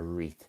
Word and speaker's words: wreath: And Rishu and AJ have come in with wreath, a wreath, silent W or EATH, W or EATH, a wreath.